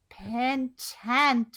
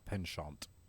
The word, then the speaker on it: penchant: She's largely private, in contrast to her mother's penchant for courting and media circuits. That's one of the weird ones where the pronunciation is taken from French of penchant or penchant.